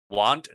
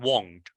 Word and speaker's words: want: Want, not won't. Be careful because won't is a little bit rounded, and want.